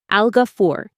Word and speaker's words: Al-Ghafoor: When we say this name, we say it like this, Algafur.